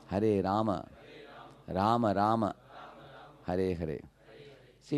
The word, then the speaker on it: Rama: Hare Rama. Hare Rama. Rama Rama. Hare Hare. See, in Hindi when you write Rama, you say, Hare Ram.